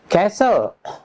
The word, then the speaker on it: castle: Number 6, silent T. Teman-teman, T dengan L, TL, T is not pronounced. TL, T is not pronounced. T-nya tidak dibaca.